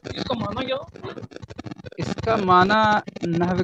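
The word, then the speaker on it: نحو: Hello, सही उच्चारण जो है नहव होगा, नहव नून पे जब नून पे जबर और हा और वो दोनों साकिन है, ठीक है। दूसरा साकिन, तीसरा माकूफ, नहव नहव नहीं नहव। अच्छा, और इसका माना क्या?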